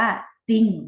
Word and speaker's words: จริง: รอ รอ อีก หน่อย จริง เรา จะ ไม่ อ่าน ออก เสียง ตัว รอ ให้ แม่ เรา จะ อ่าน ว่า จริง นะ คะ เป็น ข้อ แม่